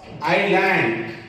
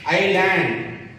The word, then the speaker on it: island: Apple, orange, ice cream, egg, eraser, aeroplane, elephant, umbrella, ink bottle, iron box, island, here S is silent, island, envelope, ant, octopus, apartment, x-ray, onion.